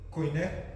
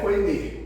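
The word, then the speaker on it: koinê: Coiné. Coiné. Originalmente o Novo Testamento foi escrito na língua greca precisamente. Vamos lá. Não é coiné, é coinê. Coinê a gente pronuncia errado. É coinê.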